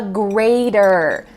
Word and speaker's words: grater: I grate the cheese with a grater. I grate the cheese with a grater. Notice that the T in grater sounds like a D in American English.